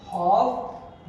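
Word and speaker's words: half: उसका मतलब आधा first हाफ reverse first हाफ reverse कुछ लोग बचपन में ज्यादा अंग्रेज बन गए तो इसको हाफ पढ़ते थे हाफ लेकिन हाफ नहीं है हाफ यहां एल साइलेंट तो फर्स्ट ऑफ रिवर्स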